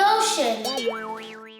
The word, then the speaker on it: ocean: how big is the ocean let's see most of the Earth is covered by water ocean rhymes with potion to cumference of the